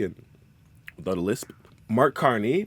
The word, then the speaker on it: Carney: without a lisp Mark Carney pronounced car like the metal thing that goes fast on highways and KN like the excruciating little bit of Hell in everyone's body that activates when they turn 30 christop Freeland pronounced free